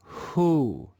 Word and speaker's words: who: In this word, the W is silent. Let's read this word together. who, who, who.